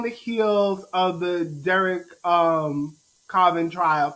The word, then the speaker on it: Chauvin: So Bootsy, like we're on the heels of the Derek Chauvin trial.